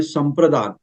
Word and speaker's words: संप्रदान: तो इसका मतलब होता है सम प्रदान, मतलब स्वयं देना है, तो प्रदान, सम प्रदान, ये दान नहीं उच्चारण करना है, प्रदान है ये।